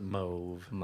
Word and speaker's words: mauve: so much for PR pronouncing it mauve yes because the British pronounce it move don't know where you get an O out of an au I'm like we're Americans